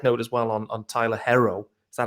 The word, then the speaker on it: Herro: So, and just a side note as well on Tyler Herro. Is that how you pronounce it?